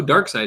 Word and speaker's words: Darkseid: side i mean dark you know who dark side is right yeah hold on i've got to show her a picture of darkseid now you guys you've